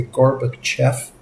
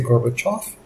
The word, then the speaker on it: Gorbachev: do you know that sometimes they pronounce the e as an o and the O is an e and we find this